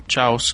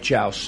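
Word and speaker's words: Xaus: The Spanish call him Chowos. Correct. Yeah. He calls himself Chaus X is pronounced Cha.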